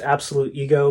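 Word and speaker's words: Absolutego: This is Absolute Go. I've been told it's pronounced Absolute Ego, but I kind of like saying Absolute Go better.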